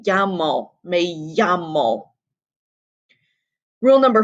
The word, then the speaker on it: llamo: Remember how I said that was pronounced? Think about how you think this expression is pronounced in in Spanish, and we get me llamo, me llamo.